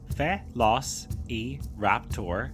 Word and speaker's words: Velociraptor: Velociraptor, pronounced Fe-los-e-raptor, was a small, fast-moving theropod dinosaur that lived